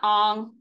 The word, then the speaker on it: Aang: They all called him Ong. Even the character introduced himself as, "My name is Ong," and we're like, "Ong? Why would you change the pronunciation?" I guess they're trying to be authentic, but. What's the point in saying it with an accent?